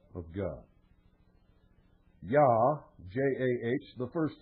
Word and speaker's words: Jah: Yah, J-A-H, the first syllable, represents the name Yahweh, or Jehovah, the name of the God of Abraham, Isaac, and Jacob of the Bible.